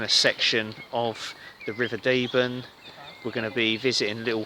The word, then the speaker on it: Deben: at Woodbridge on the banks of the river deben pronounced it right this time we're doing a little